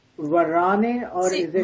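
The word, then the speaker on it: Varane: um who whose name Varan or is it Varan well it depends but if you say it like French way the French word is Varan Varan yeah okay uh so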